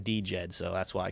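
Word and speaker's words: DJED: of DJ but or some people just say it's Jed the D is silent uh you know when I was at the conference in in uh Austin everyone was saying DJ Ed so that's why I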